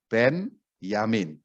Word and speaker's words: Benyamin: Hai Abraham dari suku Ben Yamin Oh ya catatan itu membacanya Ben yamin ya Bukan dibaca Benyamin kalau Benyamin itu lanjutannya Sueb Benyamin Sueb berarti itu adalah hahaha